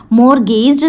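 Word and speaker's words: mortgaged: मॉर्गेज्ड the house, यहाँ पे T silent रहेगा, ठीक है, तो उन्होंने अपने हाउस को गिरवी रख दिया।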